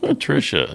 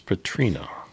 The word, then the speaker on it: Patrina: It's not Patricia, it's Patrina. That's what I said, Patrina.